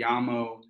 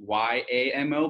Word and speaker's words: llamo: but it's spelled M-E, and then llamo, which is, I guess, if you said it phonetically, it'd be Y-A-M-O, but it's two L's, Yamo and then Jesse.